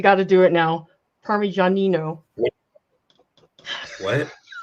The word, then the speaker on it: Parmigianino: Yeah, don't you remember how easy it was for me to pronounce all those Italian names? Okay, you got to do it now. Parmigianino. What? Parmigianino.